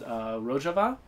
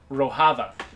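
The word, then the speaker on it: Rojava: to pronounce it but a lot of people assume that it was called ro hava because they thought that Jay would pronounce like an H and I'm like serious really far from Mexico I'm pretty sure that they don't use Spanish pronunciation conventions there yeah so you're way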